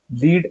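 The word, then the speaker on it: lead: पाहिल्या होत्या आता इथं आपल्याला लीड आणि लेड ओके लीड आणि लेड हे ज्यावेळेस आपण पाहत आहोत त्यावेळेस आपल्याला दोन्ही शब्द तर सेम आहेत त्याचं स्पेलिंग पण सेम आहे पण त्याच्या प्रोनन्सिएशन मध्ये प्रोनन्सिएशन जे आहे ते मात्र आपल्याला कम्प्लिटली विरुद्ध जे आहे ते प्रोनन्सिएशन आढळते विरुद्ध म्हणजे थोडफार वेगळं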